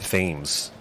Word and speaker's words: Thames: You notice I said Thames and not Thames. I've been here for a while. Been here for a long time. Yeah, I know. You know what I'm saying? Thames would have been insane.